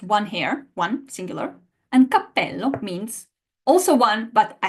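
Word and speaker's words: cappello: is it a pitfall because guys in English we don't really have any uh situation in which just by making the same consonant stronger and that's the effect of the double it changes its meaning whether you say I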